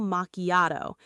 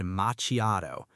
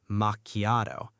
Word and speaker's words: macchiato: The CH in macchiato does not sound like the CH in chair. Instead, it sounds like a hard K sound.